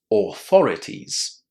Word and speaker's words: authorities: It's the long a sound, right? Lots of students are having problems here because they want to pronounce the letters a U at the beginning and in the middle of words as or o. But this doesn't work in English.